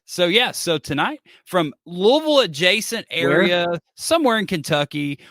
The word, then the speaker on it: Louisville: home of the Sluggers it's Louisville like like many people say like you have to say it like you have marbles in your mouth but you know that